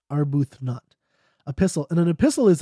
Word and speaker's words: Arbuthnot: Arbuthnot I was mispronounced that one our booth not epistle and an epistle